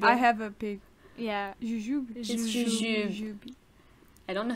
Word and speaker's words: jujube: Jujube. Wait, I have a pig. Yeah. Jujube. I don't know how you would say it in English. Like, I don't know, but in French it's jujube.